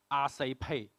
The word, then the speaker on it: XRPay: For a Cantonese-speaking person, they will pronounce it as Asai Pay.